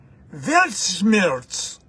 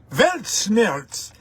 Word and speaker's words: Weltschmerz: It is, and I hope my German friends will admire my pronunciation, it is Weltschmerz. No, I'm okay. Weltschmerz.